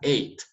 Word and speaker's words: ate: porque es irregular totalmente y ya se pronuncia eight y para el participio